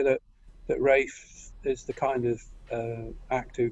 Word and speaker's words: Ralph: choice know plenty name is Ralph and probably he does like you pronounced as race yeah I realize I should have said race ya know I'm going Ralph all the way I